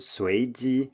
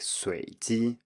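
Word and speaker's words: 随机: which means random, but both students failed to rise on the first tone and said something like 随机, which sounds more like a low tone. So I simply noted that this is correct, except for the tone on the first syllable.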